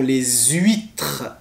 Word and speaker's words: les huîtres: et vous avez aussi alors attention les huîtres voyez on fait la liaison les huîtres et ensuite vous avez